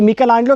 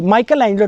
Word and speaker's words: Michelangelo: Italian लोग इसे मिकेलांजेलो कहते हैं, इसका सही प्रोनाउंसिएशन है, और बाकी लोग इसे माइकल एंजेलो कहते हैं।